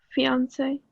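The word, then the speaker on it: fiancée: Those two sound exactly alike. One is just spelled with an extra E. The feminine is the extra E. So if you were a man and you were introducing your to-be wife, this is my fiance. And then you would turn around and say, oh, he is my fiance. Same pronunciation, just different spelling.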